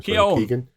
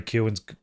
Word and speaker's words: Keoghan: Do you think if Oppenheimer hadn't come out, do you think Barry Keoghan, I'm not sure how you pronounce his name. Keoghan.